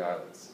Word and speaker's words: islets: The islets. Okay. S is silent.